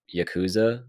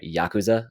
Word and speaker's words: Yakuza: There's a chance I might actually wrap up Yakuza before I wrap up. I'm sorry, Yakuza. I've been saying it wrong this whole time.